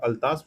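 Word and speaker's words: Atlas: Then again matching है, एटलस है, sorry यार गाइस मैं इसको एटलस बोल दिया है, अल्तास बोलते हैं इसको, ये मेरे रॉन्ग प्रोनाउंसिएशन हो गया।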